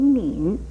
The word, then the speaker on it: 黽: 像这个敏字国语注音也是摸银敏，三声敏。